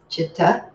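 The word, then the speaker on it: citta: of the word cipta it's pronounced like CH chitta which I've typed in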